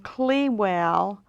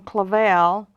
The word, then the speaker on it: Clavel: And she was even pronouncing the family name incorrectly. She was saying Clewell, and it had been changed from Clavel to Cluel, but she was pronouncing it Clewell.